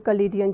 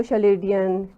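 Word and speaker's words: Chaldean: वैसे लोग उसको शलेडियन चलीडियन इस तरह से भी मतलब वो नाम प्रोनाउंस करते हैं। लेकिन वो असल में सीए की साउंड के साथ है।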